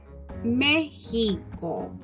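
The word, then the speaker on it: México: it is pronounced differently the x is pronounced with a different sound in spanish we call mexico the correct name in spanish is mexico okay so starting from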